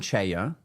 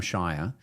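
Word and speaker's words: Cheyer: for another time essentially Adam Chaya Adam sorry Adam Shire I found out is how you pronounced his name he at first I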